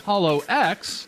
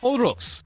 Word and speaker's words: HoloX: it's not actually pronounced holo x or holo x but in japanese is intended to be pronounced as odoks as in roku which is japanese for the number six as in paul live